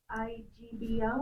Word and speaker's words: Igbo: Even if you can't pronounce it, can you spell it? Who can? IGBO.